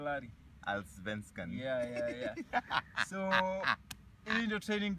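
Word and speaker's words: Allsvenskan: Alsvenskan. Sema Alsvenskan, Larry. Alsvenskan.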